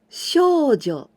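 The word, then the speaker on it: 少女: manga shonen anime and please be careful we don't use this kanji but this one shoujo shoujo it means young girls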